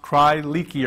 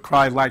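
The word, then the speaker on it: Crye-Leike: it's not pron pronounced cry Ley or cry likey it's actually pronounced cry like like cry like a baby and they're very popular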